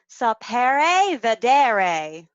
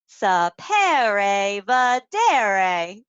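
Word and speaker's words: saper vedere: Okay, so this is a Latin word and it's pronounced sapere vedere. Sapere vedere.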